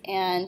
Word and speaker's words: et: each other so there are only three of them and you already know the first one which is a and it is pronounced a even though it's spelled et the word is a